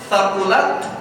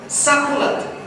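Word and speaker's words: ثقلت: Sebagian tempat masih ada orang yang baca misalnya thaqulat dibaca sakulat. Thaqulat itu bagian dari ayat Al-Quran, tapi sakulat bukan.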